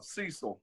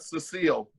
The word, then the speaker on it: Cecil: See, you say my name properly like they do in Alabama, Cecil, not Cecil.